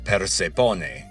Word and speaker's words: Persephone: And one clue there is that the name in Greek is not pronounced Persephone, which would be Persian voice, but Persephone.